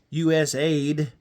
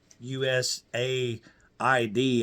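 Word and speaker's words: USAID: aid, and I don't know why they're pronouncing it USA ID. I don't know why they're pronouncing it that way, but it's U.S. aid is actually what it's supposed to be.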